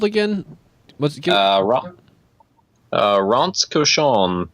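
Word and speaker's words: Rince Cochon: again what's uh uh Ron koson but it's spelled rinse Kion r i n c e space c o c h o n for those uh at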